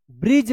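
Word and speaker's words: bridge: Last वाला ई का उच्चारण नहीं होता है। यह भी साइलेंट रहता है। तो बी आर आई डी जी ई ब्रिज पढ़ेंगे।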